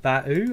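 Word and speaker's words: Bauh: out so this is called batu and that is the pronunciation i checked that github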